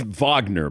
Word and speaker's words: Wagner: you can't rewind it I think it's Vagner by the way not I mean let's pronounce it correctly you know European style